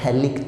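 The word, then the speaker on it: phthalic: This compound is known as थैलिक acid. This compound is known as थैलिक acid. This compound is known as थैलिक acid. P silent होता है यहाँ पे।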